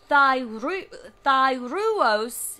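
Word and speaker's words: thyreos: And so Thyruos, but some pronounce it, is spelled T-H-Y-R-E-O-S.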